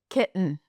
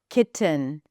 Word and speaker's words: kitten: Now, to clarify, it is perfectly fine to pronounce it with a regular T. Kitten.